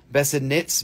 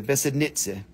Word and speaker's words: Besednice: It's just spelled, it's spelled way differently than it sounds. Everybody says Besednice, Besednitz, Besednice, but it's Nitze. N-I-I-C-E in Czech is Nitze. Nitze, Besednice.